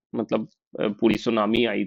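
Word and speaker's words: tsunami: इसको आप जैसे टी सुनामी नहीं बोलते हैं। टी साइलेंट होता है। सुनामी ही बोलते हैं।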